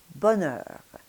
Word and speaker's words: bonheur: of the tongue that's going to be hitting against the inside of the upper teeth to make the N sound. So putting it together, we have bonheur.